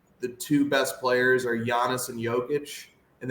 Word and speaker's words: Giannis: two best players are Giannis and Jokic, and they both have a soft G and a soft J, whereas we want to call them Giannis and Giannis.